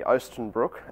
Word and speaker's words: Oostenbroek: So, uh, Lisa, my name's Oenbrook, and if anyone's struggling with the pronunciation, I hope that's a little bit clearer.